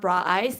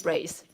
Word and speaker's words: Brace: It's not Bra Eyes, it's Brace. Brace. I repeat, it's Brace.